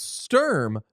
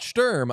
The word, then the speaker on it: Sturm: Uh, someone in the chat says it's Sturm, not Sturm. I was waiting for someone to say that. No, it's Sturm.